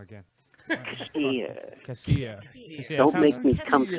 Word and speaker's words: Kassir: You're going to see John Kassir, or I pronounced his name wrong again. Kassir.